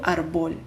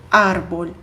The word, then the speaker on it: árbol: Bom, árbol termina em L, em consoante, então eu deveria dizer árbol, mas eu não digo árbol, eu digo árbol. Então, eu preciso acentuar o A para indicar que ali é a minha sílaba tônica.